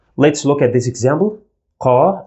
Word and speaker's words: ق: we pronounce it as ca ca you feel like the sound comes from the throat but it is not a throat sound it comes from the back of the mouth cavity car at the back